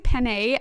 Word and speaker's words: penne: Got to IKEA and Kate was triggering me because he kept pronouncing penne as... penny pasta. It's not called penny.